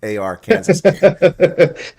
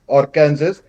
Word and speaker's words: Arkansas: our Kansas cuz it's a R Kansas. Yeah, we don't know where that silent S came from. We I actually pronounced it as our Kansas until I said it